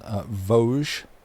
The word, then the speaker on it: Vosges: If I've been led correctly on this one, Vosges. Vosges. The Vosges Mountains.